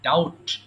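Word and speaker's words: doubt: মানে সন্দেহ করা দেখো এখানে একটা সাইলেন্ট লেটার আছে তাই না এই যে ডাউট এটা কিন্তু বি আছে কিন্তু বি উচ্চারণ করা যাবে না এটাকে বলতে হবে ডাউট ডাউট মানে হচ্ছে সন্দেহ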